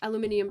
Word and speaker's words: aluminium: was outside my window oh yes aluminium versus aluminum internationally it's spelled aluminium with the IU M well the the aluminium but we spell it aluminum for some reason but we don't like a lot of kids aren't taught that we're just taught that we say aluminum and the others say aluminium this is how you